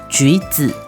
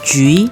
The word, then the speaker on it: 橘: 橘 sounds similar to 吉, good luck.